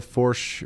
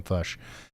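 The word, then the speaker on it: Fourche: did you pronounce the forch valley how do you say that it's pronounced for Valley okay so I've been saying it wrong the whole time I've been saying fush uh okay thank you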